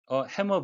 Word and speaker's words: hammer: hammer blow, 망치로 치는 것과 같은 가격이니까 엄청난 충격이라는 뜻이 되고요. M자가 겹쳤지만 발음은 하나만 해서 hammer라고 하셔야 되겠습니다.